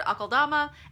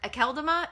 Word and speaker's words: Akeldama: But could you please pronounce Lord Alkodama? Lord Alkodama instead of Lord Alkodama.